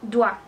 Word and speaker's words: doigt: También la palabra dedo, doigt, le doigt, es doigt. No doit, doigt. Otra palabra, por ejemplo, noa, que significa nuez. Noa. Entonces ya lo tenemos. O, I, se pronuncia ua.